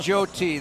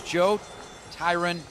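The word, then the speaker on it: Joe Tryon: Well, yeah, Tom's going Joe T. That's what he's going to. But, um, it is Joe Tyron Shinka Showinka.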